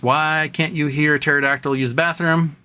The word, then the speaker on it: pterodactyl: Why can't you hear a pterodactyl use the bathroom? The P is silent.